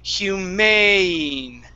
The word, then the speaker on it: humane: Okay, all right, so we're going to say humane. Humane. Great, that's it. Okay, so that long A sound, okay, you tend to pronounce the diphthong in reverse.